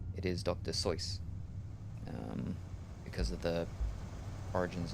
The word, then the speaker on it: Seuss: reason why um Dr zo's name is mispronounced um because he thought it rhymed better and made a connection with Mother Goose so Dr Seuss uh but that's actually